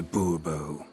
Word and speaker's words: Bourbon: bourbon fine monsieur de bourbon the emphasis falls on the last syllable bobo see now i'd